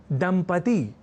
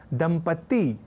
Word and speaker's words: दंपति: दंपति इस शब्द को लिखने और उच्चारण के क्रम में लोग दंपत्ति या दंपत्ति जैसे प्रयोग कर दिया करते हैं और